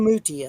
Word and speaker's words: Muti: Moody, or is it? How do you pronounce it? Ornella Muti, I think, is how it's pronounced. Anyway, it had Tim Curry in it.